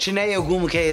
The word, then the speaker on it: Chiney Ogwumike: We have WNBA great Chiney Ogwumike on the show.